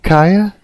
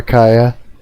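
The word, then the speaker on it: Keiya: K E I Y A. That would be like Ka, right? Is that correct? Ka.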